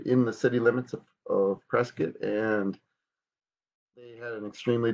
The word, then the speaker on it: Prescott: house in Prescott Arizona the locals they usually say press Kate and some sage will say Prescott so I can't claim